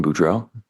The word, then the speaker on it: Boudreaux: Can you state your name and spell it for the record? My name is Brandon Boudreau.